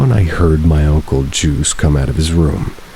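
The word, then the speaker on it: Guise: My great uncle Juice spelled with a g u i s e but pronounced like juice also lived there and he was really old, about 80 probably.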